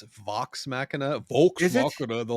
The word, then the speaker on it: Vox Machina: Yeah, it's Vox Machina, Vox Is it? Machina the whole time. This guy and his pronunciation.